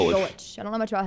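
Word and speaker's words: Golesh: How do you say his last name? Golich.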